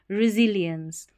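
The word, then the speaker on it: resilience: तो उसको बोलते हैं रेिलियंस अब इसको रेिलियंस देखिए spelling लियंस एल आई इ एन सी को लियंस पढ़ना है आर इ री एस आई को जी पढ़ना है सी नहीं रेिलियंस कैन कैन प्रो पी आर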